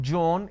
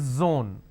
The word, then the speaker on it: zone: It's not zebra, it's zebra. It's not John, it is zone. It's not Jeel, it is zeal. It's a z sound.